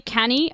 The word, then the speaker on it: Cannae: Wait, fuck, it's apparently canny.